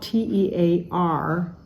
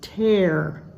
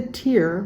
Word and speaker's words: tear: It's spelled T-E-A-R, and it's pronounced tear. It's not the tear like cry, but it's the tear like rip.